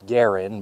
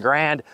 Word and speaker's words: Garand: history by we got the military one M1 Garand actually pronounced Garin but yaa we're just going to roll with it most Americans call this the M1 grand shoots 30 out6 projectile semi-automatic this is the